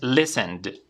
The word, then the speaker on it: listened: cual vimos la regla, y la pronunciación va a ser con una D. ¿Vale? Terminación con vibración en la garganta, usamos la D. Entonces, listened.